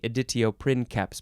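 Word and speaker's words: editio princeps: it's pronounced that way editio print caps because the C has a k sound hey that's that one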